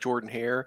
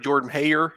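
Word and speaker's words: Jordan-Hare: one that one doesn't when you say it properly it doesn't sound as good as when you bring in that southern accent make it like prayer at your prayer at Jordan Hayer yeah exactly he said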